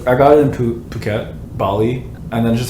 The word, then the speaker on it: Phuket: I always say fuck it. Are you guys trolling me? No. No, but also I don't know what it's I- actually yeah, pronounced. It's Phuket.